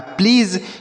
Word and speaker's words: please: आगे लिखा PLEASE, तो बच्चों पी और यल है तो पी से आधा पाव बना दीजिए, और यल से लॉ, और ए का उच्चारण होगा बड़ी की मात्रा, और एस से पढ़ेंगे आपका ज, लास्ट में ई रहेगा तो नहीं पढ़ेंगे। यह लिखा है प्लीज़।